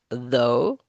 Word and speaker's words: though: So, as it says here, in this title, uh, in in these other words, the gh is silent. Hi, Sai though. Through, although though. Okay, so now let's try to pronounce these.